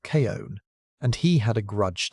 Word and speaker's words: Chun: The man in charge of the science was a zoologologist named Carl Chun, pronounced Kon, and he had a grudge to settle.